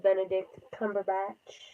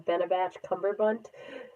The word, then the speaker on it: Benedict Cumberbatch: I always call him Benabatch Cumberbunt. So I had to like make sure I said his name right, or to my American pronunciation standards of saying his name right.